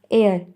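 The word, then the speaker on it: heir: इसी तरह एन एयर, एच भी इसका जो है वो साइलेंट है और ई जो इसका सेकंड लेटर है वो वॉवेल है.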